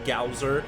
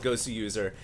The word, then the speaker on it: Goswser: be a little confused I know his name is spelled gwer and a lot of commentators call him gser but he's actually called GSU user if you ever look at his name closely uh the W is supposed to be a yuu